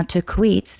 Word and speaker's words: Tahquitz: Now, Taquitz, the peak, is spelled Tahquitz in a Spanish spelling.